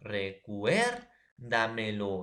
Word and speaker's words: recuérdamelo: Mira, lo es última, me es penúltima, da es antepenúltima, cuer es tras antepenúltima. Recuérdamelo.